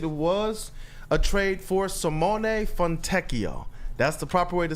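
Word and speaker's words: Simone Fontecchio: of tease it it was a trade for Simone fonio that's the proper way to say his name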